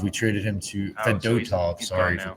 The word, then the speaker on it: Fedotov: Um did you know a Russian goalender that like uh Fedatav, we traded him to Fedotov, sorry for the pronunciation.